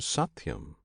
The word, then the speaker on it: Satyam: This name Satyam consists of 3 syllables, Sat, Ti, Yam.